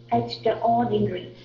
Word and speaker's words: extraordinary: The second syllable, it's the word like in you will see store, store, like store, Yeah.